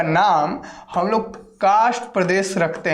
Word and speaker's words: कार्स्ट: कार्स्ट, ठीक है, कार्स्ट, इसको उच्चारण ऐसा होगा, लेकिन यहाँ पर आर साइलेंट होगा। अब जब जल्दी बोलिएगा तो इसको कास्ट बोलिएगा, कास्ट प्रदेश, कास्ट प्रदेश, इस तरीके से, लेकिन उच्चारण पर ध्यान देना है, कास्ट नहीं है, ठीक है, कास्ट होता तो इस तरीके से लिखा था, ठीक है, लेकिन यहाँ पर आर लगा हुआ है, तो यहाँ पर हम